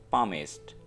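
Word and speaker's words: palmist: यहाँ पे आपने एल को प्रोनाउंस नहीं करना है, एल की आवाज़ नहीं निकालनी है, तो ये वर्ड होगा पामिस्ट।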